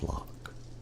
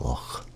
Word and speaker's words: Loch: Because Loch is one of the hardest words to pronounce I've found when telling people about Scottish words. Everybody says Loch when it's Loch, Lochbuie, McClintock, McCoy, Middleton, Moffat, Roxburgh Park, Sawpit, Stirling, Waverley.